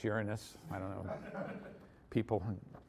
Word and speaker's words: Uranus: is the other one used to be Uranus but now it's Uranus I don't know people